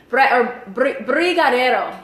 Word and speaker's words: brigadeiro: Brigadeiro.